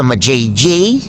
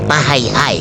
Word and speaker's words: Majayjay: At ayun, naka-ready na kami, naka-gear up na kami, OTW na sa ma-JJ. Joke lang, ang totoong talagang pronunciation din Mahayhay. Mahayhay, Laguna.